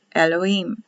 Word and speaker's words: Elohim: is the apostrophe l h i y m elohim elohim the lord god jehovah remember the catholics